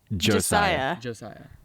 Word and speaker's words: Josiah: you pronounce my name how do i say your name josiah it's josiah josiah i know everyone makes